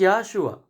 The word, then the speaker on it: Yeshua: That is why we have to be very careful and we have to be very serious to pronounce his name, because his name is Yeshua.